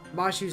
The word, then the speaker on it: Mashu: mashu's name as mash it is very clearly pronounced mashu and in most official media there is a u there they just for some reason it's just Mash here but it is mashu uh come to think